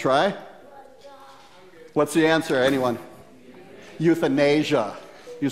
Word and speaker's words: euthanasia: You're on the right track, but you mispronounced it. You want to try? What's the answer, anyone? Euthanasia. You said euthanism.